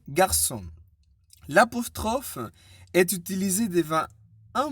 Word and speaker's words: garçon: La cédille indique que le C se prononce S et non K. Exemple, français, garçon.